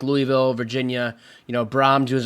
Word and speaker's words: Louisville: And remember, quiz, it's Louisville. You don't like pronounc I've been there, so I should know better, right? Lugie in the back of your mouth.